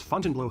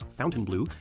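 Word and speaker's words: Fontainebleau: Miami Showdown Miami Beach's Fountain blow Hotel pronounced by the locals as Fountain Blue is a famous local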